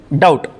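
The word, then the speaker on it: doubt: इसी तरह डी ओ यू बी टी टी के पहले अगर बी आ जा रहा है तो वहां पे बी क्या हो जाएगा? साइलेंट। इसको पढ़ेंगे डाउट।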